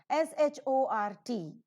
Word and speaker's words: short: SHORT, the letter r is present before the letter t. T happens to be, or T happens to be, a consonant, and hence it is not to be pronounced. So it is not short